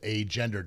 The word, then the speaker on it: agender: Okay, and Astrid says, for note, agender is pronounced agender, just the way I just said it right there.